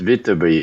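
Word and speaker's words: Viterbi: Vitaby, I think it's how it's pronounced. ah, Andrew James Vitaby is an electrical engineer and a businessman who co-founded Qualcomm Inc.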